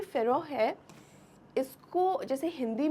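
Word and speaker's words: Pharaoh: तो यहाँ पर उसे कहा जाता है पारोहा। इन हिंदी प्रोनाउंसिएशन, हिंदी या उर्दू प्रोनाउंसिएशन, इंग्लिश में से कहेंगे फेरोह।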